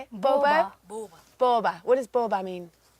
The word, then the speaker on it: ቦባ: Now, this band is called Borbo. Is that how you say it? Boba.